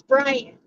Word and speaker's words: Byron: all the time right just in Australia that's how they say it doesn't matter if his name is Byron in Australia Byron it's Brian period so